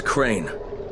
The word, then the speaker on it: Crane: no my name is crane crane crane rhymes with train and brake and sane and gray and rain and plain and the other kind